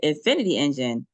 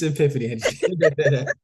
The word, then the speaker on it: Epiphany Engine: Epiphany engine Epiphany engine and you say infinity engine yeah I am I saying it wrong no no it's it's Epiphany engine okay so Epiphany engine